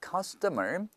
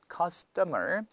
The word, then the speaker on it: customer: 모음과 모음 사이 t가 껴 있으니까 르 발음데서 meing meeting the needs of 자 그다음에 c스터 뭐인데 st가 붙어 있으니까 약간 얘가 된 소리로 받은서 customer custer custer 약간 강하게 받은된다 그다음에 and가 아니라 빠져서